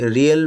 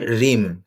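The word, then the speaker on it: realm: রিম মানে হচ্ছে জগৎ, যদিও অনেকে ওটা ভুল উচ্চারণ করে, রিয়েল বলে, আসলে উচ্চারণ হবে রিম অফ ড্যাশ নলেজ।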